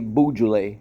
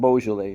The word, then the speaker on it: Beaujolais: it's like you know we say boujoule instead of beaujolais so anyway that's us